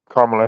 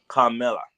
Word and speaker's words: Kamala: Again, I'm saying her name wrong. Kamala. Kamala is not the word that we're supposed to be saying. It's Kamala. Kamala.